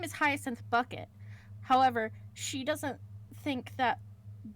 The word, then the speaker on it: Bucket: And it follows this middle-aged woman, and her name is Hiestin Bucket. However, she doesn't think that bucket is a uh refined name. So, she has decided to pronounce it bouquet.